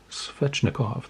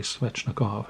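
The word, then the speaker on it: Svechnikov: card of svetch necklace i pronounce that fetchnikov that's it andre swechnikov had to think about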